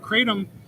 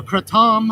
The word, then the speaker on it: kratom: I I learned about Kratom or Kratom uh people pronounce it both ways really doesn't matter to